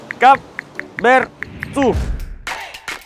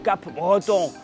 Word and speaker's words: Capberton: Per contro, che cau pronuncia Cap Bertu e non pas Cap Breton alla bretone o all'inglese, che Cap Bertu des plus segles.